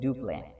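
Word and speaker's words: Dupleix: See, they have written like duplex, but we have to pronounce this one as duplay.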